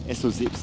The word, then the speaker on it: SOZIP: But That's SOZIP, you gotta was call it the- SOZIP. It doesn't actually make any difference. It's like SO-zip.